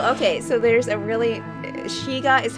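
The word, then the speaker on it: Skygge: one second so okay so there's a really shiga is how it's pronounced wait until you hear how to spell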